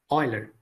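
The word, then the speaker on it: Euler: we are getting outputs but it was Leonard Oiler in mid 18th century Swiss mathematician Leonard Oiler this is pronounced as all oer not eer Oiler so mathematician Oiler conceived the idea of function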